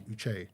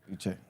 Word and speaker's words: Uche: We get like Uch or Uchi, which is quite frustrating, but it's actually Uche. Uche. Yeah, it's Uche.